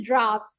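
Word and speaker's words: draughts: This is actually drafts. You pronounce it as drafts.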